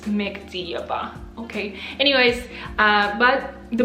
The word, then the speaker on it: Mekhdiyeva: one can say my last name until I pronounce it for them it's Mexia ba okay anyways uh but the book my year